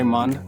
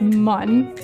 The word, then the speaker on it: Mun: I pronounce it mun. Mun. Because I remember that from the game, how they spelled it mun instead of moon.